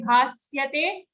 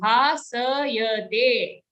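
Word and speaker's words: bhāsayate: Na tadbhasayate, don't say bhasyate, it's a full sa sound. Bhasayate.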